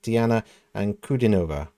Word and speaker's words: Diana Ankudinova: So it's DIANA ANKUDINOVA. There's an emphasis on the ooh, I think.